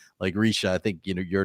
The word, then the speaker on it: Reeesha: you And know, my name Czech is Risha. So to help you pronounce it, I wrote it with E's, because that's how you pronounce a long I in Oh, Czech.